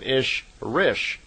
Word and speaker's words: Ishrish: And a female Ishwish is called an Ishrish, I-S-H-R-I-S-H. So in effect, Semyasi is an Elo Ishrish, is how they would pronounce it in her language.